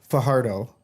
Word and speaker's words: Fajardo: A couple other players were there, such as Cody Fajardo, which it's actually pronounced Fajardo.